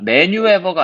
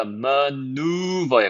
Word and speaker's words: maneuver: maneuver가 아니고요. maneuver에 가까워요. 자, 그럼 각 단어가 어떤 의미를 가지는지 한번 봅시다.